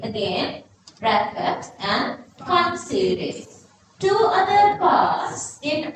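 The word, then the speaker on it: Pfund: Brackets and fun series. This P is not pronouncing. Again, brackets and fun series.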